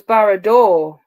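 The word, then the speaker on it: Barad-dûr: Well, it was Barrador that started all of this. Yeah, Did I pronounce it right?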